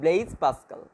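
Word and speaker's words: Blaise Pascal: ব্লেইজ পাস্কাল, এখানে উচ্চারণটা ইংলিশে হবে ব্লেইজ পাস্কাল।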